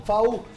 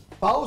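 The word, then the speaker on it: FAW: FAU se escribe F-A-W y se escucha FAU.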